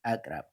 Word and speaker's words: Akrab: Can pronounce it like Akrab. In Amharic, we do have K sound, so we call it Akrab.